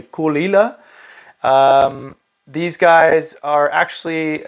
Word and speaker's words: Caol Ila: the coal ilas uh that's how you say it you say kulila um these guys are